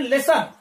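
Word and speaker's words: listen: इसी प्रकार एल आई एस टी एन, लेसन, लेसन, अब लेसन में यहां पर टी देखेंगे, यहां पर ये क्या है, साइलेंट है, इसका हम प्रोनाउंसेशन नहीं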